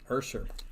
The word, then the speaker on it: Usher: Yeah, so everybody always thinks it's Usher, but Is this like the Mandela effect? Like, I'm going to I I've don't been know. saying it wrong this whole time. No, yeah. So if you listen to every single, he says Ursher, baby.